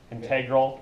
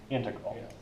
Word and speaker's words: integral: crucial part yeah yeah they're pronounced it integral and integral welcome to English sir